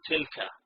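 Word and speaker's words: تلك: You pronounce it as tilka, but we'll come back to that in a moment.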